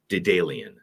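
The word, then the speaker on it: Daedalian: It's spelled Daeedalian. Daydayy is how it's pronounced.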